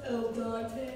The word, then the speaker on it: al dente: It's pronounced al dente.